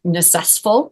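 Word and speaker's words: NCSSFL: State supervisors for languages this is pronounced nestful in case you were wondering what all those consonants together how we made a word out of that necess and so it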